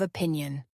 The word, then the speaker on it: opinion: The stress falls on the second syllable of opinion, opinion.